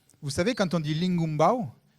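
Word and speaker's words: lingoumbaou: Vous savez, quand on dit lingumbao, il y a un son comme ça, ing, qui est particulier.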